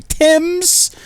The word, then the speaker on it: Thames: You can't even pronounce the name of the river that runs through your capital correctly. Thames? It's not even the right letters, you're crying out loud.